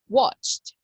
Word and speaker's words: watched: me show you okay so what is the symbol that represents the pronunciation of this verb in the past it is a letter d a letter T or E T T So pronunciation is watched watched watched okay now and you